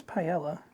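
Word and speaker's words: paella: so therefore it's Fancy no cuz the two L's in Spanish would be pronounced with the Y like in Italian and French yeah come on bu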